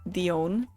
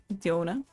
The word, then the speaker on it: Diona: I called it Dion the first time. Diona. Mhm. Dion. Diona. Yeah. It's whatever really. If I say, "Oh, my name is Diana." It's technically not. It's technically not how you pronounce it. But so everybody's wrong except for Rain. Except for the Dutch people. They say correctly, obviously.